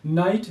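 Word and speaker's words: night: That this is ट्राईग्राफ नाइट नाइट में अगर आप देखते हैं तो आई जी H this is called is ट्राईग्राफ।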